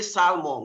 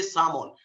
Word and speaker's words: salmon: We don't really pronounce the L. It just has to be talk. We don't say salmon, we say salmon.